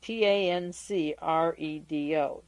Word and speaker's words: Tancredo: because I'm not sure that the well the pronunciation is Right t-a-n-c-r-e-d-o tancredo Nev n-e-v-e-s the S is silent and